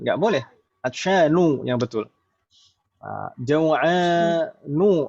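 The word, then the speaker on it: جوعان: Jaw'anu, nggak boleh dibaca jaw'anun.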